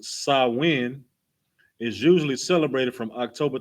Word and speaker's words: Samhain: right in modern times samhain a gaelic word pronounced sawin is usually celebrated from